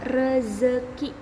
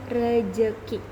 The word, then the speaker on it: rezeki: Yang ketiga, contoh ketiga adalah rezeki. Karena rezeki menggunakan huruf Z, maka kita pun harus membacanya menggunakan huruf Z. Rezeki, bukan rejeki.